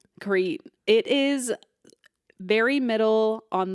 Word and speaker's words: Crete: But it is pronounced Crete? Crete.